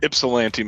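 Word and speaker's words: Ypsilanti: Stuart bought his first property at 19 years old, a 5-unit building in Yepsilante, Michigan. Is that how you say it, Stuart? That's right. Ipsellante, Michigan.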